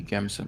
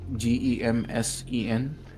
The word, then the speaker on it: gambeson: Yeah, let's go for the heavy Gamson armor. Yeah. One. It's spelled Gemsen. Gambeson.